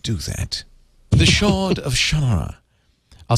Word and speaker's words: Shannara: Shannara.